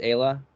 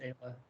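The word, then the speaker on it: Aella: got some crazy Kayla it's Ayla yeah I think it's Ayla uh I'm sure she's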